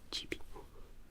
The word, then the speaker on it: Gibi: It's pronounced Gibi, because everyone's calling me Gibi.